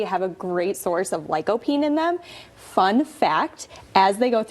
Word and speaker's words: lycopene: And tomatoes are packed with lycopene.